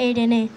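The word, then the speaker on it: Ειρήνη: Hem escrit pau en grec, que es pronuncia Irene.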